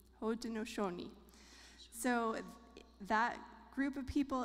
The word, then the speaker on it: Haudenosaunee: I looked up how to pronounce this word. So it's Haudenosaunee. Haudenosaunee.